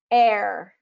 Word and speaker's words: heir: is a list of the most frequently used words that don't have the H pronunciation so this would be like honest Allelujah Heir honor um herbal hour spaghetti okay so there's no h pronunciation there and then it gets